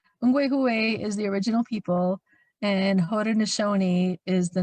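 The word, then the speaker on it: Haudenosaunee: stephanie or laura please correct me if i mispronounce it um could you explain what ho do know snokey is hoda nishoni thank you that's the name that we call ourselves the original people and hoda nashoni is the name that uh means people of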